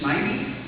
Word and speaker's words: Snivy: How do you say it? The first way I said it. What was the first way I said it? Snivy? Okay, good.